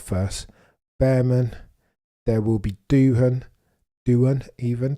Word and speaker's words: Doohan: Behrman, There will be Doohan even, pronounce it correctly.